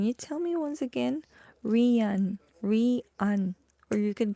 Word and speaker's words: Rian: But it sound like that when you read it. Rian.